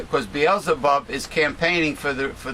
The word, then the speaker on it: Beelzebub: bub you mean are you trying to say beelzebub well it's spelled b-a-a-l-z-e-a-b-u-b so i i will use bottles